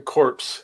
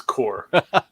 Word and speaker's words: Corps: it six thousand times it's like the green lantern core or the green lantern corpse it's core it's when he's